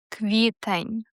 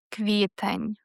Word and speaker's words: квітень: April, квітень. Квітень.